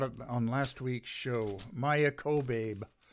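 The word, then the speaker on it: Maia Kobabe: on last week's show maya kobe that's how she pronounces her name k-o-b-a-b-e and i've got this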